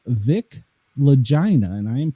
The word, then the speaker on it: Lagina: And the author of the book is called Vic Lagina. And I am pronouncing it correctly there.